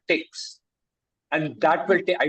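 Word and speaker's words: TikZ: So you'll have to use something called Tix.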